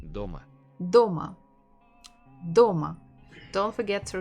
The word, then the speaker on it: дома: Дома. Дома. Дома. Don't forget to repeat. Дома. So we have two syllables, do and ma. Which one has been stressed?